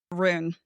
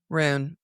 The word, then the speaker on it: Rune: And then her name is Rune. Rune. Right. Because Danon. It's spelt like rune as in symbols for spells.